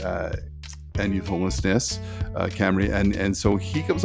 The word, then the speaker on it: Cymru: to say it wrong it's spelled Cy mru but I think when when bill says is uh Camry or camera um but it really